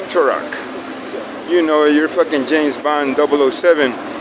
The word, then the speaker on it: Turok: Or what is it? Torque? I forgot how to say it. Turok? Oh yeah, it's Turok.